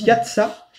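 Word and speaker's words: יצא: pays d'Égypte, en hébreu, le mot sortir, il se prononce yatsa, et la première fois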